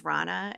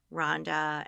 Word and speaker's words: Ronna: they're terrible, because my name's Ronna, and I get called Rhonda and Rona a lot.